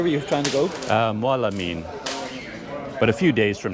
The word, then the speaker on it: Mawlamyine: Mawlamyine.